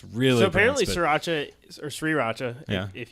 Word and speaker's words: sriracha: didn't aren't hearing sera sure racha on our stuff when we were three as my riata three racha yeah I say sure actually sure you watch it too because that's how it's pronounced well I'm I'm not